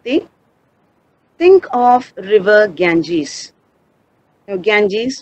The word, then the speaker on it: Ganges: think of river Ganges Ganges means our river Ganga this is how it is pronounced in English now what comes to